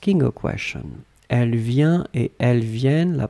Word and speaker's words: viennent: form, it's totally different because basically your double N opens the sound of the E. And the E becomes E. Make it longer. Make it longer. Ils viennent. Elles viennent.